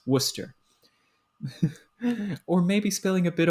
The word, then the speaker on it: Worcester: a bit of Worcestershire sauce Worcester sauce Worcester pronounced Worcester or maybe spilling a bit of Worcester sauce